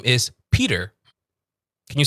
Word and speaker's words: Peter: There's a D in there, so it's P, and then you say der. Peter. Okay. Peter. P. Peter. Peter. Yeah. Peter. Even the R isn't like a strong R, so it's Peter.